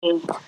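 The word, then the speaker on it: جيم: জিম আচ্ছা জিমের উচ্চারণটা হবে তিন গুণ তিন আলিফ লম্বা করতে হবে তাইলে আপনি আপনারা কাগজে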